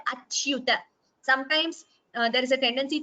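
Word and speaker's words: अच्युत: Yes, please note also the pronunciation of this word achyuta. Cha and you both should be heard achyuta.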